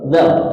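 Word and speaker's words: ذال: Lanjut kita ke dal ya. Huruf dal tidak ada di ejaan kita ya. Di ejaannya di itu apa? D Z A L.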